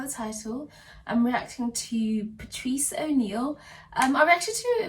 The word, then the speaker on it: Patrice: thing with that video is that i kept pronouncing his name as patrick which i do apologize but yeah i've since you know obviously learned that his name is pronounced as patrice so i apologize to you all patrice fans